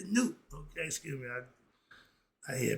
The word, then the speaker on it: Nut: The N-U-T, the U is spelled like a O. Okay, like the O sound. So it's Newt and Nut, not Nut. It's Newt.